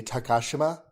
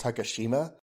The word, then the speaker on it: Takashima: in Japanese so like her name in Japanese would be takashima the she would be very very reduced and we bring that as takashima we go it with